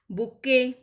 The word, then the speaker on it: bouquet: Garland, हार, बुक्के. तो हमने डिस्कस किया था, इसके स्पेलिंग में T साइलेंट होती है, BOUQUET.